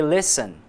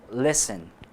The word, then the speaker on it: listen: Bom, pessoal, reparem agora na pronúncia da palavra listen. Nós não pronunciamos a letra T, ok? Apesar de ela estar lá, nós não a pronunciamos.